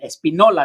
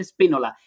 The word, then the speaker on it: Espinola: Espinola, no el Espínola.